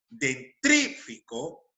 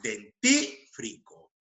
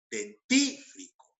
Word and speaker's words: dentífrico: de posición por ejemplo vamos a decir lo siguiente dentrífico cuando es dentífrico dentífrico entendido luego tenemos acá